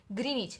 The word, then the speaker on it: Greenwich: है इम्पोर्टेंट वो है ग्रीनिच। अभी इसका स्पेलिंग GREENWICH, बट इसका प्रोनाउंसिएशन होगा सिर्फ ग्रीनिच।